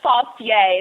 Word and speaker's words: Fastje: say your last name my last name is pronounced faucier the J is like why it's like running fast and then you're saying yes okay so they can